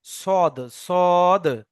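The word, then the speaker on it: ص: তাহলে সিন এবং সদ উচ্চারণ একই হুম। স্থল, কিন্তু সিনটা বারিক আর সৎটা পুর, অর্থাৎ সিনটা মুখটা বড় রাখতে হবে, সৎটা মুখ গোল রাখতে হবে, মনে থাকবে।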